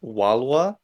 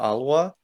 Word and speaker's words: Walwa: So the lion as a symbol here, it's pronounced Walwa or Alwa in the Lydian script.